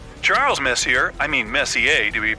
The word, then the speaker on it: Messier: stands for Messier pronounce Messier not Messier as in is your room messier than mine Charles Messier I mean Messier to